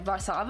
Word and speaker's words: Warszawa: Because I always heard as Warsaw growing up, but it's actually Warszawa, I think. Sounds completely different.